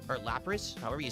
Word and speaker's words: Lapras: Like we got a EX Lacrosse or Lapras, however you say it. Lapras. How do you not know how to pronounce that?